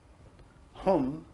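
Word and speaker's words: हूं: synthesizes the entire mantra hum sounds like om right it's almost the same but it has an h the h is the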